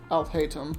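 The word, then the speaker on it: Alhaitham: headpiece I'll hate them oh that's how you pronounce it yes I'll hate him okay I'll hate them I'll hate them okay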